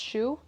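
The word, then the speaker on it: choux: do you say it c-h-o-u-x i think it's pronounced shoe um so we're gonna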